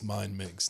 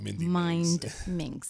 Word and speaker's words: MindMinx: And everybody, it's MindMinx, not Mindy MindMinx. Yeah.